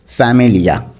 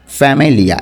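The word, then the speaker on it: famiglia: তো ইংরেজির সাথেই কিছুটা মিল আছে, ফ্যামিলিয়া, ঠিক আছে, ফ্যামিলিয়া। এখানে কিন্তু জিয়ের উচ্চারণটা হচ্ছে না। ফ্যামিলিয়া অর্থ পরিবার, ফ্যামিলিয়া পরিবার।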